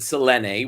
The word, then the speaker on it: Celine: She, I believe she pronounces it Selene, which we all Okay.